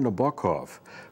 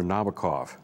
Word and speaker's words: Nabokov: masters of English prose, the Russian-American writer Vladimir Nabokov, or as Americans say, Vladimir Nabokov.